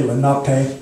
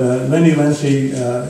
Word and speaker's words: Lenape: But he taught me how to say Lenape correctly, and so I have to say it correctly because I learned it right. Okay, but Lenny Lenape is not what they say in the tribes themselves.